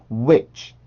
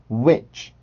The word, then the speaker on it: which: 그래서 이 단어를 발음을 할 때는 which, which, which, which, which, which 처럼 발음을 해주시면 됩니다.